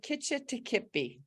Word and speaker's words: Kitch-iti-kipi: it the right way it's the legend of kitchen to kipi Kitchen not what I was saying I had